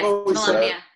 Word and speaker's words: Volumnia: Is that right, Volumnia, Ryan? Is that how you say her name? Yes, Volumnia. I've always done like a long U, but I don't know what's correct.